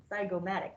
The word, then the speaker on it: zygomatic: Zygomatic bone.